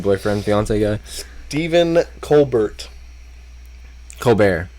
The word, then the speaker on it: Colbert: fiance Guy Stephen Colbert Colbert Colbert Stephen Colbert yeah you don't pronounce the T no is he is